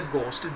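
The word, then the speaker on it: ghost: Dairy सोचता है कि लोग उससे डरते हैं, एज इफ मानो ही इज अ घोस्ट। जी एच के कॉम्बिनेशन में यहाँ एच साइलेंट, स्टूडेंट्स को घोस्ट नहीं बोलते, घोस्ट होता है, कि मानो लोग उससे इस प्रकार डरते हैं कि जैसे कि वो भूत हो।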